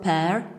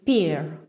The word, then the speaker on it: pair: incredibly all of them couldn't say the word pair because they kept saying peer are you wondering what